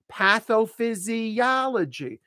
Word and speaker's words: pathophysiology: So this first part, this prefix, patho, like hat, ah, patho, and this is fizzy, that's a Z, Z, voice Z, physia, so that O is pronounced as an ah, physiology, pathophysiology.